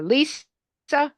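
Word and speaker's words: Lise: call with Dr L uh lisaa except it's spelled with an E van sestrin and she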